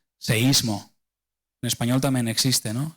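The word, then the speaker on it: σεισμός: es una palabra griega que se produce se pronuncia seísmo.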